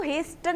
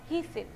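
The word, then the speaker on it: hasten: एक तो इसको हेस्टन नहीं बोलते, जैसे कि आपके इस वर्ड में के साइलेंट रख के हम इसको क्या बोलते हैं? नाइफ। लाइकवाइज इसमें हमको टी को साइलेंट रख के क्या बोलना होता है? हीसन।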